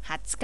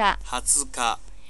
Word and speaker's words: 二十日: 二十号都会好似嘅，会读成二十日。二十日。